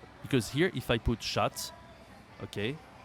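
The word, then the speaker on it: chat: the cat we and we say la shat or un shat okay so here this is so important not to pronounce the T but they don't precise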